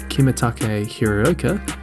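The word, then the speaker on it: Kimitake Hiraoka: in short Yukio Mishima born kimatake hiruoka that is the authentic Japanese pronunciation of those names shamer ostensively was a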